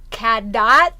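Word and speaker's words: Cadott: place in hold on I can say it right CAD do yes CAD CAD do Wisconsin woo from July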